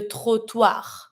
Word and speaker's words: trottoir: Every time that it's finishing with the R, you do pronounce it. Double T, here you don't care. It's the same sound as if it was just one T.